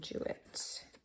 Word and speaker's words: Jewett: The King of Folly Island by Sarah Orne Jewett.